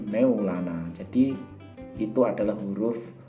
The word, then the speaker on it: Mevlana: yang ada di Turki Jadi mereka membacanya itu bukan mevlana tetapi meylana jadi itu adalah huruf